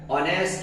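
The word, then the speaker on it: honest: देंगे सी ए एन ये हो नेक्स्ट नहीं होता है ऑनेस्ट होता है क्योंकि इसमें एस साइलेंट होता है और इसलिए इसकी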